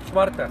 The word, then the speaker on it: Zwarte: Kita ke Zwarte Cross, the main event, the big festival. This is our driver, Tim. Tim. Going to Zwarte Cross festival. How do you say Zwarte Cross or Zwarte? Zwarte.